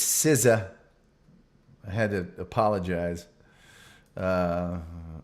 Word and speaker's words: SZA: on the air and the band is called siza but it's spelled sza now I'm used to the the days of NWA and you know so I was saying sza in the Gen xer